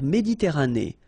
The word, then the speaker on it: Méditerranée: La mer Méditerranée. Okay, here final E not pronounced, but then you pronounce this E at the end.